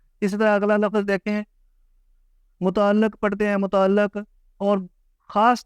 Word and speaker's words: متعلق: متعلق۔ یہ ہے اس کا درست تلفظ، متعلق، متعلق نہیں، متعلق۔ لام کے نیچے زیر ہے، اوپر شد ہے، متعلق۔ اگلا لفظ ہے جی،